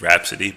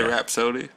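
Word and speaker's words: Rapsody: no nice with it I'm pretty sure you're saying her name wrong pretty sure it's Rhapsody but whatever well grab city what did I say rap Saudi oh that's because of old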